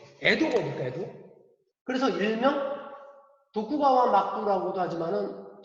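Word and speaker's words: 江戸: 에도? 그래서 일명 도쿠가와 막부라고도 하지만은 정식 명칭은 에도 막부. 이게 우리 발음으로는 강호. 일본 발음으로는 에도.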